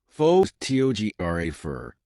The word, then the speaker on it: photographer: But in photographer, the stress moves to the second syllable, photographer.